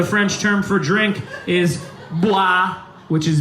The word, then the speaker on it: boire: Number 6, 5-letter word for the French term for drink is boire, which is B-O-I-R-E. Boire. I think I'm pronouncing it perfectly in French.